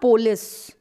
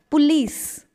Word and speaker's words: police: use it it's so the stress is on lease okay so this is how we pronounce it it's not polis it's police the police is investigating